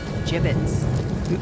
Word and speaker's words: gibbet: had some gibbets left over jbits what it's pronounced jibbitz are you sure yeah well no one likes